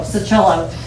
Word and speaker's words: Sacchelo: My last name is pronounced sit, with a T silent, and like the instrument cello, Sacchelo.